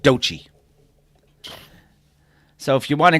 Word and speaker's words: Doechii: You would think it was like Doechii or something, but it's just pronounced Doechii.